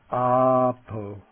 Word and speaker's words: āpo: in the word brahman the long a and the word for water apo apo okay the i